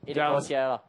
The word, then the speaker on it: Itacoatiara: Itacoatiara. No, say it again. I'm trying. Itacoatiara. Itacoatiara. You say it in one syllable.